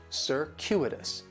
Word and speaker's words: circuitous: The stress is going to be on that second syllable, and that CU it's kind of like you're saying the letter Q, circuitous.